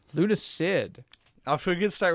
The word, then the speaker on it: Lunacid: And Lunacard? Lunacid. Off to a good start with the pronunciations on this one.